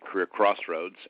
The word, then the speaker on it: Career Xroads: It's career xroads in terms of the spelling but we pronounce it career crossroads and uh yeah I post uh slides or you know reports there.